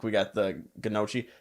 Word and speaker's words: gnocchi: Like we got the gnocchi. The funniest pronunciation of that I ever heard was Gucci. We had a waitress that, who would call it Gucci.